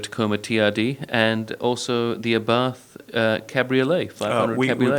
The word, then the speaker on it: Abarth: the chance to drive the Toyota Corolla Hybrid, the Toyota Tacoma TRD, and also the Abarth Cabriolet, 500 We Cabriolet.